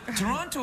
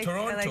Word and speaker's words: Toronto: Well, Toronto, I say it like a Scottish person, not unlike the people who built Toronto.